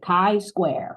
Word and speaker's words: chi-square: So the best way to, people often call it chi-square, but it is, how would I do this phonetically? K-Y, chi-square, okay?